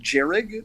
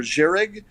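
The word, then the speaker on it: Jhereg: series i believe it's it's pronounced jarrod or jerich but it's j-h-e-r-e-g uh i got to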